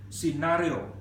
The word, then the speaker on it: scenario: Geral banana you banana scenario whether it's British or American it is scenario sustainability six syllables take